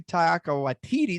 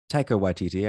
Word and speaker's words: Taika Waititi: Shouts to Taika Waititi. Did I pronounce that right? Taika Waititi, I believe. Taika. Okay. I put the emphasis on the wrong syllable there.